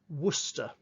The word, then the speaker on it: Worcester: Think about the city Worcester, Worcester, or Leicester, L-E-I-C-E-S-T-E-R, Leicester.